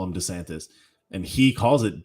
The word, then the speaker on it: DeSantis: more willing to support desantis you know what's kind of annoying i've noticed this every single person calls ron desantis ron desantis and he calls himself desantis so we're all pronouncing